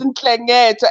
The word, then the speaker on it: Nhlengetwa: So you've got an N and an H and an L, and people want to have an E or an A in between.